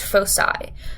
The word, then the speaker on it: Foci: before making this video it's pronounced Foci when it's plural yeah I'm proud of